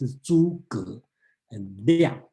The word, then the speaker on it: Zhuge Liang: And the other important person's name come out is Zhuge Liang. We will talk about this one. Don't pronounce it as Zhu or something. It's Zhuge and Liang.